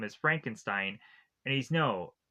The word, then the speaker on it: Frankenstein: As the two of them meet, we of course have Igore who says uh Frederick Frankenstein's name is Frankenstein and he's no it's pronounced Frankenstein.